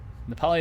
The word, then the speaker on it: Nepali: Nepali is how you say it in, well, Nepali for both language and nationality. Nepalese has in English also for both.